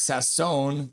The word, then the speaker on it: Sasson: Uh so it's pronounced um Michigander Max Sasson. Last name is French pronunciation.